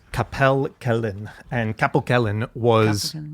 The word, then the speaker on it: Capel Celyn: Well, in Wales, there's another one that was called Capel Celyn. And Capel Celyn was Is that how you say it? Capel Celyn? it's Capel Yeah, Capel Celyn.